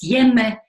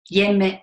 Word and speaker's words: hjemme: And all of these people delivered a little poem that rhymes with 2 words. The word for home in Danish, which is hjemme, and the word to decide, which is bestemme. Hjemme and bestemme.